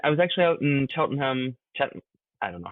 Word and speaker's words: Cheltenham: I put, no, that's you're really pronouncing way too many letters. Cheltenham. You just say, you, yeah, you say as few as possible.